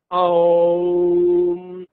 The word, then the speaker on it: Om: Et ça se prononce Om. Il comporte trois lettres. La première A, il vient du ventre.